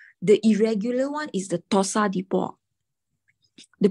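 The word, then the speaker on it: torsades de pointes: The irregular one is the Tosa de Port. The pronunciation is called Tosa de Port.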